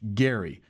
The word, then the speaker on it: Gerry: It is it was actually pronounced Elbridge Gary uh as as it would happen.